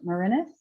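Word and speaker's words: Morinis: The Spiritual Path of Musar, Everyday Holiness by Alan Mourinhos.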